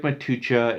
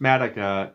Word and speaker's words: Matuch: t u c h it looks like matucha it's pronounced madaka very easy to find